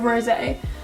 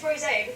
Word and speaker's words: Rosé: I would say it's Rosé because that's when it's got the accent on the end.